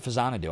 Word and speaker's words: Faxanadu: Shag girl purple says faxanadu is pronounced fanadu. I know that's how you really say it because famicom and xanadoo but it will forever be faxanadu to me and boole agrees with me.